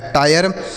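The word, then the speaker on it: tire: तो ऐसे हो गया, टी से पढ़ेंगे ट, आई का उच्चारण आई के रूप में तो हो गया टाय, आर ई से रॉ लिखा गया टायर।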